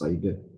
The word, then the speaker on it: CIDR: Okay, the acronym is pronounced CIDR.